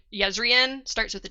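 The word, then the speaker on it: Jezrien: with a J their their name is pronounced like a y like yezen starts with a J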